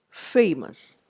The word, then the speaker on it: famous: I say famous and not famous.